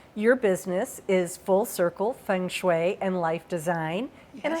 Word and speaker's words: feng shui: I often say to people, I don't care how you pronounce it, but I always say Feng Shui.